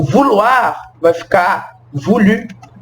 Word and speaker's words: vouloir: Por exemplo, os verbos terminados em OIR, que a gente vai falar UAR, tá vendo? Então os verbos que terminar em OIR em francês, mas a gente vai pronunciar OIR como UAR, são os verbos vouloir,